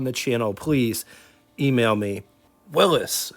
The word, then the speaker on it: Willys: Willis, not to get confused with Will St. Claire because they're two totally different companies and yes, Willis is how it's supposed to be pronounced.